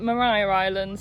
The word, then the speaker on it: Maria Island: Morgan spoke to a local who said that there's no parking restrictions here, and they also pronounced it Maria Island, so we've probably been saying it wrong.